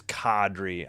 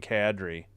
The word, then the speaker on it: Kadri: It is Kadri. I don't know who I heard saying Cadri. It is Kadri.